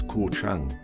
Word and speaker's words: Koh Chang: You'll hear me refer to this island as KOH CHANG. The English spelling KOH, and I pronounce the H. But in Thai, the sound is like an English celebrity called Gok Wan. His first name, Christian name, Gok. You move the K and you've got Gok.